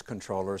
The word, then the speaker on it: comptroller: the air that the even though it's spelled comptroller that the common usage is controller so let's go with